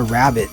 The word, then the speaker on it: rabbet: this wood here but they call it a rabbit but it's spelled rabbet and you're supposed to